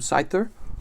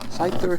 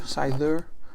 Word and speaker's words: Scyther: it's called is called neo2 I hear some site there or aside there I should say see I used to pronounce them site there apparently that was wrong Scyther Scyther all right so that's pile number two we're